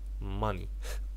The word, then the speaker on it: money: and nouns require a different rule if the second syllable contains a short vowel the stress will usually come on the first syllable.